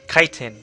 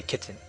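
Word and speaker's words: chitin: starch glycogen cellulose and kiten pronounced kiten but some people say kitten let's talk about monosaccharide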